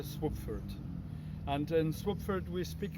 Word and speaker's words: Słubfurt: new city body called swoopford taking the first syllable of the town of swabitsa and the second syllable of the town of frankfurt which makes uh swapford and in swapford we